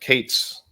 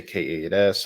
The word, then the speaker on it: K8s: I pronounce that Kates. Other people maybe say K8S.